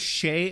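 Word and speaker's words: Jhe: it down phonetically right I heard Shay at first and I was like I'm imagining that like shea butter but it's probably not spelled like that so it turns out it's spelled with a j j h e what the J the hell language is that it's a soft J I don't know what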